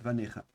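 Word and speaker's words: בָנֶיךָ: Ici, justement, on ne prononce pas l'iode, vanecha.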